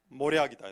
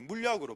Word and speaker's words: 몰약: 근데 성경에는 동방박사가 드린 예물이 황금과 유황과 모략이다 나옵니다. 근데 저는 항상 발음할 때 이 모략이 물약으로 발음이 돼갖고, 지난번에도 대표기도 할 때 황금과 유황과 물약을 주신, 물약은 아니고 모략입니다.